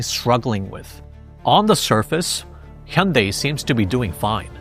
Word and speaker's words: Hyundai: It's supposed to be pronounced as Hyundai, which means modern times in Korean. So Koreans kind of find it funny when the car brand they're so familiar with constantly gets referred to as Hyundai overseas.